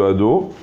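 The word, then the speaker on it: אֲדֹנָי: nom d'Akadosh Baruch Hu, que la première, le Dalet est bien avec un O, et des fois quand on lit vite le nom d'Hachem dans une bracha ou dans autre chose, on peut avaler le O et dire ad au lieu de ado, d'accord?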